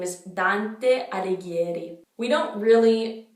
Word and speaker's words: Alighieri: Now for the last name, the GH in Italian is a hard G. Anyway, it's Alighieri, Alighieri. You'll start to hear all the patterns and it's gonna get easier, I promise.